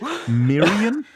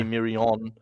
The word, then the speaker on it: Mirian: Mirian. Mirian. That sounds feminine. Yeah, as long as we say it like that and not say Mirion.